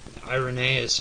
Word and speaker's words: Irenaeus: agree with i iron nais on this point irenaeus is spelled i-r-e-n-a-e-u-s but the following of ballot tennis